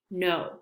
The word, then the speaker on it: know: If you see a KN at the beginning of a word, like knitting, we do not pronounce the K. Same as know, like knowledge. I know this. I have a lot of knowledge. Those all have Ks at the beginning, but we do not pronounce it.